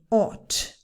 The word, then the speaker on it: ought: The pronunciation of this one, we also have silent letters, the G and the H. We say ought. I ought to go.